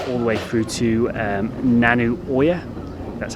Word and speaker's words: Nanu Oya: LA that went all the way through to nanu Oya that's how you pronounce it I've trained lasted about three hours